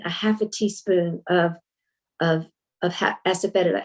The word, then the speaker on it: asafoetida: If you're eating legumes, asafoetida, some people pronounce it asafoetida, it helps digest legumes, but also cruciferous vegetables, as I was mentioning, like broccoli and cauliflower and Brussels sprouts.